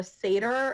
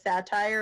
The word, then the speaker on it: seder: was amazing and then some people don't understand how to pronounce seder and it comes out as satire and i'm like well